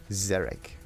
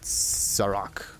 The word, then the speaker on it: Zarek: pronounce it this way. Zarek. Not Zarok. It's Zarek.